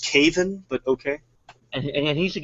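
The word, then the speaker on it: Kevan: around what what needs to happen is Uncle Kevin needs to get the High Sparrow assassinated and get another actually it's actually pronounced Caven but okay and he should get the High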